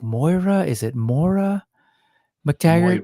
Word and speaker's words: Moira: Is it Mora McTaggart? Moira.